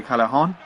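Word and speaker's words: Callejón: They've got the 2 ex-Real Madrid players who just went across, Higuain and Jose Callejon.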